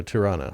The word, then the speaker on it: Tirana: Okay, so Tirana, that's how you pronounce that capital.